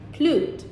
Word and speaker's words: clude: as a morpheme because it's pronounced clued systematically.